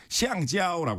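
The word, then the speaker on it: 橡胶: 중국에서는 고무를 시앙지아오라고 하거든요.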